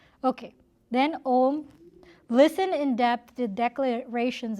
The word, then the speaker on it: Om: Some people say it's actually pronounced Aum. No. It's broken down as A-U and Ma, but you don't pronounce it that way. You pronounce it Om.